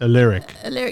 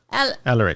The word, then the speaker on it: Alaric: Alaric. Yeah, Alaric.